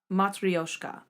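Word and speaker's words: матрёшка: call Russian dolls in Russia is called met pronounces wrong net not re oshika matryoshka or mother now the reason why they call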